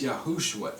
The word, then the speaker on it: Yahushua: also to be yahushua because the full six-letter spelling needs no vow points it's yahushua every time all right so it